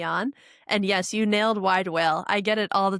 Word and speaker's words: Widewail: And yes, you nailed wide whale. I get it all the time. Like, how do I you wanna say pronounce it?